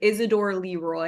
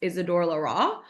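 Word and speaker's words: Isidore Leroy: It It looks like Isidor Leroy. It's pronounced Isidor Larra.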